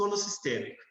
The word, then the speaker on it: holossistêmico: A palavra holossistêmico, ela tem, né, alguns falam holossistêmico, outros falam holossistêmico, né? Eu pronuncio holossistêmico.